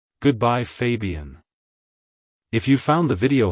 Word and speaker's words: Fabian: soft un sound at the end like hello Fabian goodbye Fabian if you found the video helpful hit the